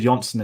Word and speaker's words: Jonsson: um we also have David jonsson in this or Johnson it's pronounced but we spoke I